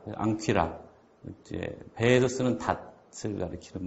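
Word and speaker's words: ἄγκυρα: 그래서 앙이 발음나고 퀴라, 앙퀴라.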